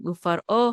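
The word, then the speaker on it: ופרעה: So don't say u faro. Don't make resh part of this syllable.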